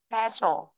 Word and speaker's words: special: Vì vậy trọng âm sẽ rơi vào chữ bè. Vị trí thứ nhất. Special. Special. Vị trí thứ nhất nhá. Một số bạn bị rơi vào thứ hai rồi.